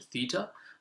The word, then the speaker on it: theta: to go you tend to just go to theta which is kind of it looks like that